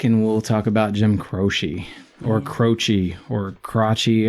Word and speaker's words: Croce: All right, and now let's take another break and we'll talk about Jim Croce. Or Croce, or Croce. How do you say it, Rayburn? Jim Croce? Croce.